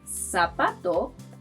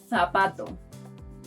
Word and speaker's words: zapato: But in Spain, this letter is pronounced th. So you might hear that the word shoe is pronounced zapato and zapato.